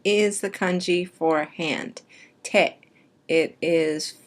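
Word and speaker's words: 手: When you see it on its own, it's pronounced te.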